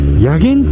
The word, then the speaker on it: 薬研: 夜勤温泉これね先ほど看板出てましたけどもねやげんっていう風にねアルファベットで出てましたね漢字は読み方難しいですね何やらその